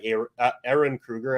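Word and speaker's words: Ehren Kruger: at the helm by air Aaron Krueger I believe is the pronunciation of his name and then uh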